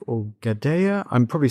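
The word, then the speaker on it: Gudea: Is it King Guda or Gada? I'm probably saying it butchering the pronunciation. Yes. So Gaudea is certainly the most famous of the kings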